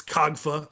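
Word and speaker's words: COGFA: It's the uh it's KOGFA uh is what we say or some people have even different acronyms for it.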